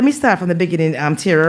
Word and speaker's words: Terra: Am I pronouncing it correctly, TERRA or TERRA? Yes. TERRA? TERRA is right on point.